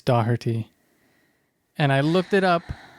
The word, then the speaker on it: Doherty: It's not Doherty. No one says it like Doherty. They say Doherty. That's you're putting in an you're putting in an I that doesn't belong there.